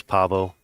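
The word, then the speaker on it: Paweł: You see Yeah, how it's Pavo, pronounced in Polish.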